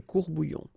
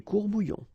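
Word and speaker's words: courts-bouillons: Un courbouillon, and then if you want to put the plural form, well, same rule, S, S, you don't pronounce it, des courbouillons. Un courbouillon, des courbouillons.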